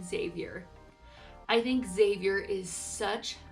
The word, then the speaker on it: Xavier: I love the name Xavier.